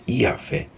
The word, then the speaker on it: Yahvé: O tetragrama sagrado, que na pronúncia original era Yahvé, é formado por 4 consoantes e significa eu sou o que sou ou serei o que serei.